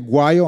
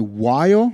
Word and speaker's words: guaio: Vous le saviez, guaio en italien, guaio, mais les Napolitains ne prononcent pas la première lettre, ils font un guaio.